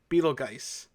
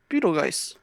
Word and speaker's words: Betelgeuse: the perfect amount a name in the movie is spelled b-e-t-e-l-g-e-u-s-e beetle guys beetle geiss but the problem is marketing didn't think that